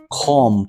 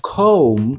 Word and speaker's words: come: Значить, це буде com. Але ні, це come.